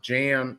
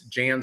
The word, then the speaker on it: Jan: I believe it is not pronounced Jan like the female, Jan like Brady Bunch. It's Jan sort of like John.